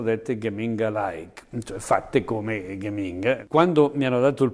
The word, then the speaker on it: Geminga: gli ho attaccato dietro Geminga, pronunciato all'olandese perché ero in Olanda, con la G2 diventa Geminga, che in milanese vuol dire non c'è, Geminga.